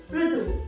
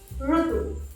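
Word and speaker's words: ఋతువు: Okay, so instead of pronouncing these words as Rutuvu, many of them are easily saying it as like Rutuvu, Rushi, RuNam, Rutuvu, but it should be Rushi, RuNam, Rutuvu. See, our Telugu language has this sound Ra.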